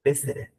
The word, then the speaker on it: visited: y va a ser visited. Visited. ¿Sí? Anoten. Si una palabra termina en ED y le antecede una T o una D, ¿sí? Yo voy a pronunciar la ED perfecta.